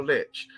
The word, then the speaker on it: lich: a say Lich so Lich this Lich was over there not leech Lich this Lich was over there in